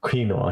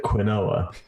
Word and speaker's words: quinoa: saying that her husband refuses to call quinoa quinoa he calls it Quinn OA I existed quinoa is the non British pronunciation of it that's not no that's just